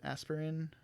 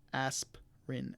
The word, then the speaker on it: aspirin: we don't pronounce it i think i may have heard some people pronounce it aspirin but it's it's more of aspirin aspirin and the last one